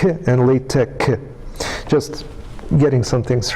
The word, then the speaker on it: LaTeX: it's Greek letter which is uh should be pronounced as so it's Tech and L Tech just getting some things right here but uh